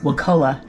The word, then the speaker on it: Wakulla: I got to get the Florida pronunciation. We've been corrected on that many times. Wakulla.